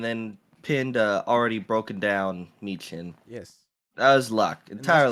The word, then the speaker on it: Michin: Michin, yeah.